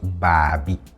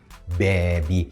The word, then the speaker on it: bebi: Bebi, and I'm saying bebi, not babi. Okay, so this is pronounced bebi.